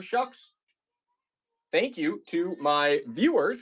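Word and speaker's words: Shough: rookie quarterback, Tyler Shucks, last name spelled Tyler Show, pronounced Tyler Shucks.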